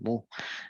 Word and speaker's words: Meaux: Este Meaux se pronuncia Mou. Esto es francés. Así es el francés, un montón de letras para decir Mou.